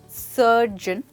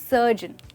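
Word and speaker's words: surgeon: Well ये काफ़ी simple है, इसको हम बोलते हैं सर्जन, ओके। यहाँ पे ओ की जो साउंड है वो बेसिकली साइलेंट है, तो आप कहेंगे सर्जन।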